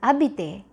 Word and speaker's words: habité: And this word over here is going to be pronounced as horloge. This one is hier. This one is habité.